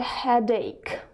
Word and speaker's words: headache: So, number one is I've got a headache. Обратите внимание, что здесь сочетание букв S, C, and H, H читается как К. Да, это небольшое исключение. So, I've got a headache.